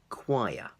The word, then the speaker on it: choir: do you pronounce it not shower sure it's not even Chuck even though it has the CH at the beginning it's actually choir choir okay so an example